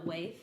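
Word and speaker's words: Waithe: Waith. Lena Waith.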